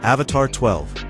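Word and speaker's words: Avatr 12: Coming in at number four is the Avatar 12. And yes, you heard me right. It's pronounced Avatar 12, but the name isn't the weird part.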